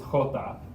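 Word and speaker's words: jota: is equis this is hota and this is pronounced it's more out of the back of your throat this is not super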